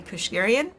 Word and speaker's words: Keushguerian: Today I am joined by the lovely Amy Kushgarian. Do I pronounce that right?